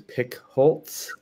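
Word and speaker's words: Pickholtz: is pronounced correctly last name is pick holtz um it's like woodpecker in german sort of um coming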